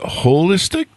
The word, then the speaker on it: Wholistic: company and holistic starting with a W like hole hole so do you pronounce it holistic yes we do the whole because it's you know we're looking at the whole picture not just part of it and also holistic with